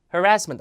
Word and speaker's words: harassment: 그다음에 sexual harassment 자 미국 발음으로 harassment고 합니다 harassment 앞에가 약간 흐에 가까요 성희롱입니다 성희롱 그다음에 rape